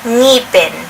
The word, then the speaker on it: ngipin: can say it, but the NG is one letter for us, and it is pronounced like when you put together like the roof of your mouth. The part before your tonsils and then your tongue, and you can actually produce that sound. Ng, ng.